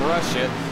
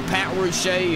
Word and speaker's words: Ruche: I called him Russia. So Pat Ruche is the correct pronunciation on his name.